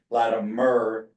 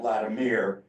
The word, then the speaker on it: Latimer: just to be clear, since he is our honoree, Irving pronounced his last name as Latimer, not Latimere, and there's only one E in that name, so.